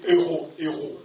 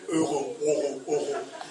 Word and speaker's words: euro: Seigneur, augmenter le frère disait ce matin, des héros. Bon, mais je te l'ai dit, mais est-ce qu'il a bien prononcé quoi? Moi, j'ai essayé. Euro. C'est euro, hein? Les euros.